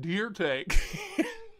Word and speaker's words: Dirte: It's Joe Dirte. It's pronounced Deer Take.